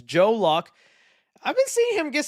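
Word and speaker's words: Joe Locke: lock right I know I was saying his name wrong the first time I talked about I was calling him Joel lock but it's Joe lock I've been seeing him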